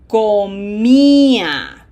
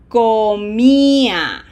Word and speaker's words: comía: Yo comía. Closed O. This is not com, okay? This is comía. Repeat after me slowly. Tú comías. Él comía. Nosotros comíamos. Ustedes comían. Ellos comían.